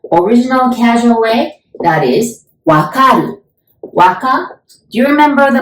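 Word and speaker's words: わかる: to verth so original casual way that is wakaru Waka do you remember the movie Black Panther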